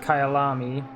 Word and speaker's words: Kyalami: guess sees it says it's the track is pronounced Kayal ami and in zulu it means my home and